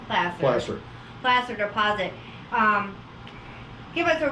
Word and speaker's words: placer: mentioned the word that's placer because some people pronounce it placer but it's plastic plaster deposit um give us a real quick definition